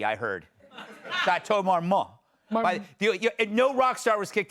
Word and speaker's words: Chateau Marmont: You don't pronounce the T, I heard. Chateau Marmont.